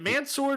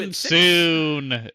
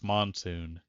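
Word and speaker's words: Mansoor: They traded up three spots with the Cleveland Browns to get Mansour Delane from LS Monsoon. That's how you pronounce it. It's Monsoon.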